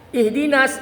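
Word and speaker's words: اهدنا: berh berhenti dinastainnya waqaf tapi kalau wasal ihdina jangan dibaca hamzahnya ya masukkan lalu cara meemberi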